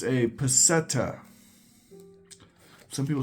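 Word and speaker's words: peseta: talking about so first of all it's a petta some people say pada I it's pronounced petta okay pirate stacker it's a petta now in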